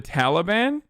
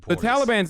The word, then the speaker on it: Taliban: Stop pronouncing Taliban in Afghanistan like a white person. Taliban, Afghanistan. That's how I say it as a Turkish person.